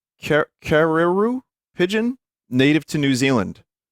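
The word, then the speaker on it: kererū: The R is pronounced like a D. Kadedoo?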